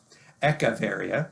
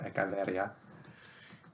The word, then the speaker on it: Echeveria: get things changed and moved and people don't spell it right and sometimes that that sticks anyways echeveria is the way you would normally say it or ecaveria and lots of really cool little uh compact